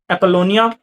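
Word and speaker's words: Apollonia: यह है जी एपलोनिया from the house of जर्जफ। यह इसका नाम लिखा हुआ है। मैं आपको प्रोनाउंस भी करता हूं।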